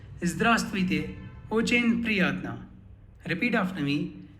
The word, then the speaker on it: Здравствуйте: Здравствуйте. You would notice in the spelling we have a V after A, but that V is silent. Hence we say Здравствуйте.